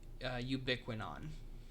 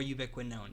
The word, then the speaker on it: ubiquinone: That CoQ, also called coenzyme Q, or ubiquinone, or ubiquinone, depending on how you want to pronounce it.